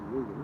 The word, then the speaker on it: Regan: Regan. Like Reagan, Regan. but long E. Yeah, Regan. More like how it's spelled.